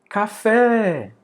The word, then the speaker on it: café: Ó, café, vem almoçar. Você não diz café, vem almoçar. Você diz café, vem almoçar. Então, a sílaba mais forte é o fé.